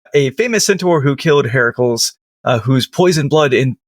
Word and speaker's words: Heracles: It's Heracles, not Heracles. What? Who is this dude? It's Hercules. Hercules. Oh, it's okay. Then what? Why? Like I would look like Oh, because it's Greek. Hercules is the is the Latin version.